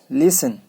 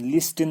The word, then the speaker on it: listen: इसी तरह से टी में भी ऐसी वर्ड्स हैं जैसे LISTEN, लिसन, टी साइलेंट है, लिसन पढ़ेंगे, इसको पढ़ेंगे क्या, लिसन, लिस्टन नहीं पढ़ेंगे, लिसन।